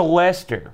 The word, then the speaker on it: Leicester: less this year yeah it's spelled sort of like that but you don't say like oh well thank him anyway he goes to Leicester mm-hmm what's with all the eyes and sees in there what's a man they